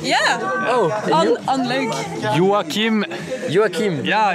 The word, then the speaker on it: Joachim: Joachim.